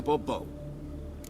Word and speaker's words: Bourbeau: yet, as Monsieur de Bourbeau. Fine. Let's get to the point, monsieur. Fine. Monsieur de Bourbeau. The emphasis falls on the last syllable.